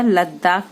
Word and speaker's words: लद्दाख: पूर्वी लद्दाख, तो पूर्वी के लिए ये बन गया लद्दाख में ल ख, द साइलेंट हो जाता है लद्दाख।